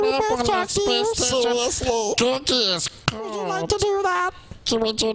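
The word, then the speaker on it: Gurgi: Dude, Googie's going to have sexual...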